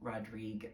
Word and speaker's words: Rodrigue: He pronounced his name Rodrigue, which is why I do that today.